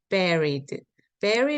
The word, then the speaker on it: buried: 서 죽은 상태 죽으셨습니다 죽은 상태셨고 And 그리고 bered 는요 묻다 장하다는 뜻입니다 여기 유로 이렇게 스펠링이 인데요 아니고요 bey 아닙니다 ber ber 발음